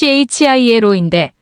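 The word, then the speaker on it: Chilo: 킬로의 라틴어 발음은 칠로인데 편의상 영화의 영어 이름으로 대신한다.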